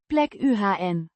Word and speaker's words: plekken: pronounced. Plek UHN. The Ik. is fairly hard.